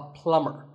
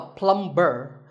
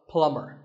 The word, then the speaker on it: plumber: You call him a plumber, not a plumber. The B is silent, so plumber.